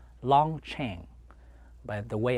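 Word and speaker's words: Long Tieng: ng t ie ng was pronounced it correctly pronounced long chain but the way how was pronounced bill at that time was pronounced long team so that's how the secret war was fought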